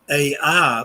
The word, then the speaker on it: Ai: a Biblical town that in the Bible is called AI but it's actually in Hebrew simply pronounced I they is silent and